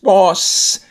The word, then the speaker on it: boss: So when you read it, you just read the, just say one sound, boss. You don't go tss, it's just boss.